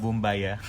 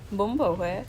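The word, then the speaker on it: Bún bò Huế: bumbaya. Well, Say it, well, say it, say it. how do you say it? Bumbo hue. Bumbo hue. But I was like Bumbo hue.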